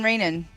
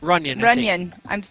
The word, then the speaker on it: Runyon: Sean Rainan. Right? Rainan? Did I say it right? Runyon.